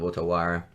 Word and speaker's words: Otawara: That's the Japanese pronunciation of Otawara.